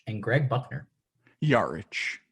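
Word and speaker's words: Jarić: mayo antoine walker marco jarich and greg buckner yarich yeah just wanted to help you out there it's marco yards i didn't bother looking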